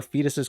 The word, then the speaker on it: Foedus: And as a first job, she'd like us to cure Fetus's curse. Yeah, I can't think of any other way to pronounce that name. It's fetus.